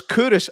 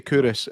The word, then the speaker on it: Culross: It's Kouros. I'm not. No, sure we're not going into say Kouros, but that's how you pronounce it.